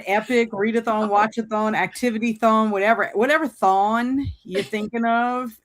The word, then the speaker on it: thon: And all of us here can attest to that because that's we thon, all, not thong. Not thong. Not thong. No, Not wearing thong. thong. That rhymes with song, but Yeah.